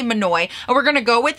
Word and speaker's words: Monoi: it's it's written matt m-o-n-o-i like monet monae i really don't know okay i'm just i'm gonna look it up i'm gonna google it cause that's why we love google i'm sorry what okay so from what i'm seeing on all sources i believe it is pronounced monoi uh and i'm gonna